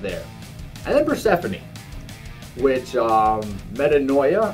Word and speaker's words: Metanoia: And then Persephone, which Metanoia, I think is how you pronounce it. I think. Metanoia.